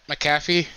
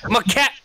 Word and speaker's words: McAfee: to be coming out say his name again Pat McAfee McAfee McAfee McAfee not my cat whatever you just said